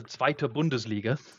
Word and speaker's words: Zweite Bundesliga: Well, first of all a uh schooling on how to pronounce it, which is of course the Zweite Bundesliga.